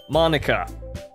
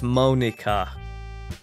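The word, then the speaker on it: Monika: Monica. Get out with your Japanese puns. Eh? That's not how you say my name at all. Oh. I fucked it up. It's Monica.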